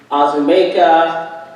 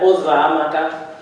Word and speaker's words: Uzoamaka: And I would have teachers or anyone, neighbors, try and say my name, and it would be Azumeka, Uzamaka, Uzakuza, any version that they could think of other than Uzamaka.